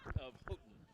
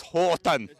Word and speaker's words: Houghton: About 10 miles north of Houghton. Okay. So it's up there. Well, I think you pronounced that wrong. It's Houghton. Houghton.